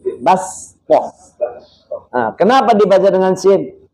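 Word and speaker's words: بَسْطَةً: Kita membacanya dengan sin, bastoh.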